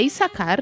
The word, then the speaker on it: Issacar: Eu não sei a pronúncia de Issacar ou Issacar. Não, é Issacar, né?